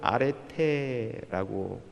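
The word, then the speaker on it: ἀρετή: 이 덕은 헬라어로 원어로는 아레테라고 발음합니다.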